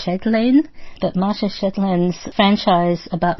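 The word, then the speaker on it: Chatelain: franchise by Mara um chellin I'm sorry if I'm not pronouncing that right it's c h a T a e l a i n so maybe it's shedlin but Mara Shin's franchise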